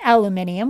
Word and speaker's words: aluminium: But now in Britain, they pronounce it and spell it aluminium, while here in the United States, it's aluminum.